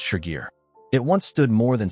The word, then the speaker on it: Shigir: In the 1890s, diggers at Shigar found pieces of a tall wooden figure. Today we call it the Shigar idol, pronounced Shigir.